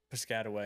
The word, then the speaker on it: Piscataway: Piscat. Yeah. Like a Triscuit.